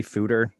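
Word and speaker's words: foeder: works it you know it's not an english word so yeah it's dutch right whatever works yeah george eagleson told me it rhymes with hooter that sounds exactly like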